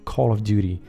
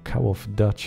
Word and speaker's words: Call of Duty: saco e dizer que a pronúncia correta desse jogo aí na tela É Call of Duty né Parece que todo mundo no Brasil falar algo tipo cow of dutch ou não sei o